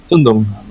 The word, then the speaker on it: Zündung: Zündung.